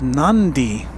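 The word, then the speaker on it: Nadi: wind skill 1969 says Hey Walt NY is pronounced nandi okay I stand corrected thank you our audience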